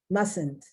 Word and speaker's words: mustn't: that's not correct mustang mustn't if i've hate if i hear the t at the end it's very subtle very very subtle to the point it's not there ballet that's from french